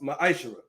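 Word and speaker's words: מעשר: It means 10th in Hebrew and is pronounced ma'ashara.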